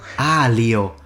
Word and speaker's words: aglio: Aglio, which means garlic. The G is silent, so pretty much... The G is not silent! I need some pasta, so sorry. Feel much better now. Aglio.